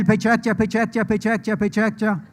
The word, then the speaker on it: Pecha Kucha: patchation in rio so it's written pecha kucha but it's pronounced by chuck chappie can everybody tell pecha chapicha the japanese way sao paulo where are